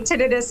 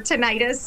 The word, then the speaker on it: tinnitus: You know, it's either way, you could say tinnitus or tinnitus, okay.